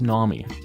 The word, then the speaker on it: Nomii: It's Nami, even though it's spelled Nomii.